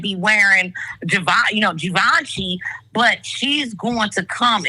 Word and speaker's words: Givenchy: And don't say Givenchy no more. That's not how you say it. It's Givenchy.